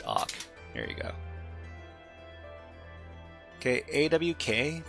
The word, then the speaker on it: AWK: Okay, AWK, pronounced as the word awk, is an acronym derived from the surnames of its 3 original authors.